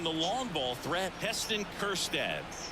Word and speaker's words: Kjerstad: Stepping in, the long ball threat, Heston Kjerstad. That J is silent.